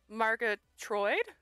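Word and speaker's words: Margatroid: So it's Alice Margatroyd. That's how you pronounce it.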